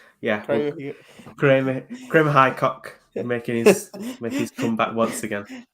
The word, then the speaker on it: Hickok: I think it's Kramer, and I think it's pronounced Hickok. Yeah, Kramer Highcock making his comeback once again.